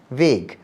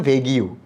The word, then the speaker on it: vague: ওখানে তখন আমার কাছে একটা নতুন শব্দ চোখে পড়ে, সেটা হচ্ছে VAGUE, ভেগ। এখন তো খুব স্মার্টলি ইংরেজিতে বলি ভেগ কথাটা, তখন তো আমি জানতাম না, ক্লাস 5-এ পড়ি, ভেগ আবার কী জিনিস। আমি উচ্চারণ করেছিলাম ভেগিউ।